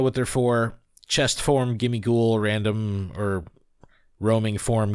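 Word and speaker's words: Gimmighoul: Chest form, Ghimmighoul, random, or roaming form, Ghimmighoul. Very cool. Very cool. Ghimmighoul. Ghimmighoul. No, but anyway, very, very cool hearing Professor Willow's voice. You keep saying Ghimmighoul. It's Ghimmighoul.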